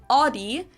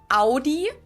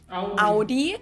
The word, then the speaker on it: Audi: Most Americans that I know pronounce it like I just said it, Audi. In German, we say Audi. Audi.